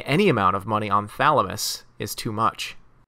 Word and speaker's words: Thalamus: Every dictionary I've ever looked in pronounces the TH in Thalamus. I have to tell her about my path to Thalamus.